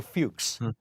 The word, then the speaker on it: Fuchs: television I really want to be sure Michael Fuchs um and uh who was the am I pr and I'm pronouncing his last name right you are he